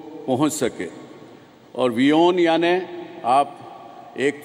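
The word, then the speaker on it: WION: और वियोन याने आप एक तो मानना है कि वर्ल्ड इज़ वन न्यूज़, पर दूसरा जिस प्रकार से हम उसका उच्चारण करते हैं, वी ओन, यू own, India ons this network.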